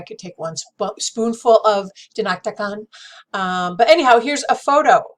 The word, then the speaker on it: dinakdakan: Listen, as long as I'm spiraling around the web right now, let's just find out the correct pronunciation, okay? Dinakdakan. Dinakdakan.